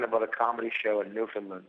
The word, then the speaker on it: Newfoundland: It hurts my mouth to go Newfoundland. Newfoundland? First of all, because I'm from Boston, so it's just Newfoundland. It's just easier for me to say. That's what most people say. Most people say Newfoundland.